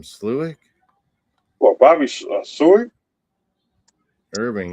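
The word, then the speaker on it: Slowik: Sluick? Well, Bobby Seward. Irving. You know how you say it properly? Bobby Slowick.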